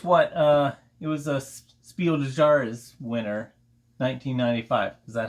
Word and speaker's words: Spiel des Jahres: Spiel des Jahres.